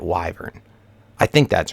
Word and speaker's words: wyvern: to say it so I guess it's called wyvern you'd pronounce it like that wyvern I think that's right